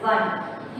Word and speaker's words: one: So, this word starts with the letter O, vowel, but it sounds like consonant. How will you say? You should not say as one, okay. So, that is one.